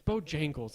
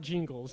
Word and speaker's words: Bojangles: Bojangles. It's Bojangles. It's not Jingles, Jeremiah. Bojangles.